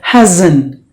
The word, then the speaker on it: hasn't: so dozen and then here the S is pronounced like the Z so hasn't so you have to